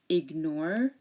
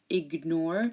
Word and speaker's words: ignore: the G for example ignore magnificent and signature again if GN is in the middle of a word most of the time we do pronounce the G like ignore you hear the G ignore magnificent mag ENT signature